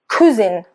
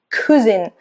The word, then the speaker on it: cousin: Now, this means that sometimes I've heard Italians pronounce this word cousin, cousin, instead of cousin.